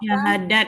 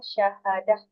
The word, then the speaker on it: syahadah: Syahadat, Bu. Oke, nanti Ibu pelajari lagi ya. Kalau tamar kita, kalau kita berhenti, Ya, Bu. kita berhenti di A. Bacanya syahadah ya.